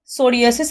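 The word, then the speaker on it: psoriasis: Rheumatoid arthritis, sclerosis, crevice disease, सोरियोसिस यहां पे P silent है।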